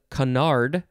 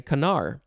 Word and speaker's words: canard: or cracker next is canard you could also take off the d sound and just say kanar c-a-n-a-r-d noun from 1851